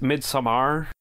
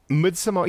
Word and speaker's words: Midsommar: you're done well also would it be pronounced mid Samar midamar yeah midamar I guess is how you say it it is an absolute